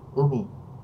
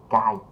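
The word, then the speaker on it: 海: Và âm nhật của nó thì mình sẽ đọc là ưmi, được không, biển. Còn âm hán của nó thì hải ha, chuyển qua mình sẽ đọc là cai ha các bạn.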